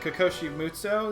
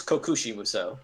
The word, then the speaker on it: Kokushi Musou: What is it? Kokoshi Musou? Is that how you pronounce it? I think it's Kokushi Musou.